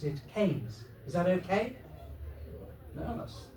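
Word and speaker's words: Keynes: I know it's spelled Kees K E Y N S, but here in the village we prefer to pronounce it Kees.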